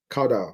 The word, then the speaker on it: caudal: Caudal. All right? My students always say, caudal. I have to hold my nose to pronounce it properly.